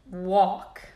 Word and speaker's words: walk: try to read them in each of this word there is one silent letter number one wednesday wednesday number two fruit fruit number three walk walk number four balm bomb